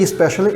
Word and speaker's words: especially: it especially especially especially specially you say especially is especially it's a little bit of hint of e especially especially so that's